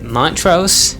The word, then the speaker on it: Montrose: can put the kibosh on this is it Montrose or Montrose Montrose my chest you use actually pronounce the T Mont Rose so those people